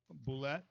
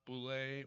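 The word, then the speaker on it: bulette: Like since that monster was created, D&D players have argued over what the correct pronunciation is, Boulette or Boulette. And of course, Boulette is the correct one.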